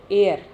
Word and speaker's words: heir: तो बेटे ये चैप्टर जो है वो लास्ट, आखिरी एयर, एट साइलेंट है, उत्तराधिकारी थे पावरफुल पैरो.